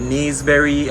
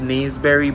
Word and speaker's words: naseberry: it to you yeah that's what we call nisbear but it's some persons I think call it kneesberry I think based on the spelling it would probably be pronounced naseberry but we call it kneesberry that's just how we hug you love it wow